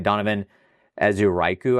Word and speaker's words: Donovan Ezeiruaku: And then I got I can never pronounce his name right. Donovan Ezeiruaku, I think is the way that you pronounce his name.